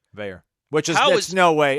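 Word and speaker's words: Veilleux: me fathom, how was this kid, I can't pronounce the Pitt quarterback's name. Christian Veyer. Veyer.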